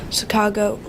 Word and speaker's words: Sacagawea: Well, have you ever heard of Sacagawea? If not, here are some facts. Sacagawea's name is really pronounced Sacagawea.